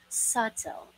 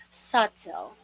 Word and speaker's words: subtle: letter this seventh word usually pronounced as subtil subtile which is wrong so we should pronounce this word as subtil the very soft again listen carefully subtle again subtle and let me say